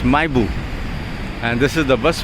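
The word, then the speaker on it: Mahébourg: It's, you see this spelling Mahebou, but they pronounce it as Maibu, and this is the bus we'll be taking to Maibu.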